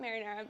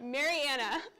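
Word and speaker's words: Marianna: um here's two pictures from marinara Florida marinara Mar not marinara Marana I gosh anyway moving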